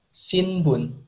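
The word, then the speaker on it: 新聞: Di bahasa Jepang, Di bahasa Jepang, cara bacanya shinbun.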